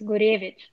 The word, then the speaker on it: Gurevich: well do you wanna if you wanna say it the correct russian way it's gurevich are you related to